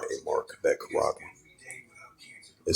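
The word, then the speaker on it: χάραγμα: The pronunciation, karakma.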